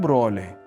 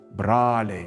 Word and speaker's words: broliai: Mažvydas, as many other Lithuanians, still pronounced and wrote not broliai but brāliai “brothers”, not mokslo but mākslā